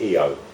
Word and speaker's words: Io: So it would be Io, which would be pronounced Eo, which means sun.